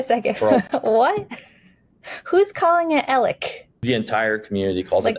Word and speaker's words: Alex: And it is definitely not pronounced Alex here in Alexandria. It's pronounced Alec.